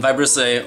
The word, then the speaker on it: vibrissae: I like this thing they're called by bristle a which I think is how you pronounce it it's kind of spelled like vibrate and I'll put it right here in vibrissae or cat whiskers are